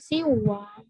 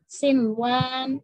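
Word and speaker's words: صنوان: Sinwan. Nggak boleh siwan. Ya, bingung kan bacanya kalau siwan. Sinwan.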